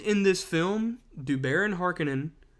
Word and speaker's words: Harkonnen: this film do baron harkenin which they pronounce it harkonnen whatever at no point does